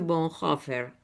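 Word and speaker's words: Bonhoeffer: Bueno, escuchemos dos minutitos más este de lo que pensaba y decía y escribió eh Dietrich Bonhofer. Ay, qué bien que me sale. Sí, lo pronunciaste bárbaro.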